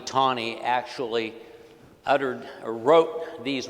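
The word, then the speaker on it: Taney: Um, and so, uh, that was by Roger B. Tonyie is how he pronounced his name. There is a county in Missouri named after him, and I don't know why they now insist on mispronouncing his name, but Teny County, Missouri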